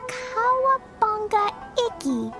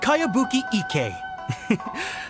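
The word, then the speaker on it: Kayabuki Ikki: By Kawabunga Iki. Yoimiya, this is a really strange name. Who's this Kawabunga? It's pronounced Kayabuki Ike.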